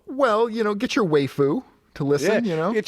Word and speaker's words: waifu: was it's not waifu is it waifu yeah it's waifu like wife like Uncle yeah like